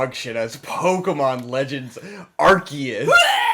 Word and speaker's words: Arceus: legends of arceus yes it should be arceus it's and it's it's one of those things where like phonetically in english it's obviously arceus because that's what makes sense yes and it's like